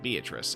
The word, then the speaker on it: Beatrice: For the people who actually respect the Golden Witch, they refer to her using the Italian pronunciation, Beatrice. Everyone else just uses the English pronunciation, Beatrice, and I forgot for